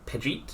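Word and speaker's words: Pejite: Uh, Nikka's been uh has been captured by the Is it the Pidgeet? Is that how it's pronounced? Uh, I actually read the phonetic spelling. It is the uh Yeah, Pajet. Yeah.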